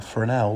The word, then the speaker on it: Fresnel: bit of engineering a fresnel lens it's spelled a bit differently I think it's because of the it's French spelling so it's got an s in it but it is pronounced